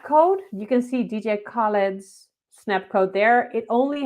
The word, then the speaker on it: Khaled: if the snap code you can see dj khaled's snap code there it only has the little